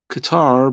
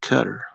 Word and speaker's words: Qatar: a coin from cutter we used to call Qatar but apparently they pronounce it cutter um no disrespecting it